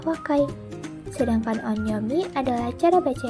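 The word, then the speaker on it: 若い: Pada kanji ini cara bacanya secara kunyomi adalah wakai.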